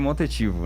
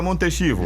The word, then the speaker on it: Montechivo: No caso, no espanhol seria Montetivo, né? Certo, pelo espanhol Montetivo. Isso. Aí no Brasil a gente já dá aquela brasileirada e fica Montechivo. Justamente, a gente fala Montetivo, né?